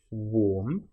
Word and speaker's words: warm: Now, warm and charm, you'll notice both have the same a r m in them, but one is pronounced warm. So, it's the or sound, the o r sound,